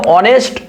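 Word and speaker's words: honest: সতের ইংলিশ কি অনেস্ট কিন্তু তোমরা জানো যে অনেস্ট অয় উচ্চারণ ওয়া তাহলে স্বরবর্ণের মত উচ্চারণ হচ্ছে এগুলোকে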